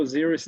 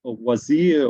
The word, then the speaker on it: Osiris: to Osiris, or actually also Osiris is a quite Greek pronunciation. We would see maybe Osir or Wazir or Osir or something like this.